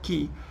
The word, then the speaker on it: quay: Cuando uno escucha acá key, que se escribe Q-U-A-Y, Q-U-A-Y, quay, ¿no? Se pronuncia key.